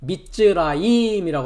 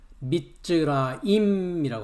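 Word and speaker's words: מצרים: 어, 히브리어에서는 애굽도 아니고 이집션도 아닙니다. 예. 히브리어에서는 미즈라임이라고 하는데요. 우리가 1절을 잠깐 보면 그 단어가 나와 있습니다. 예. 오른쪽을 보면 4,714번해 가지고요. 발음은 미즈라임이라고 합니다.이 미트라임이라는 단어는 요드맵이 전미가 돼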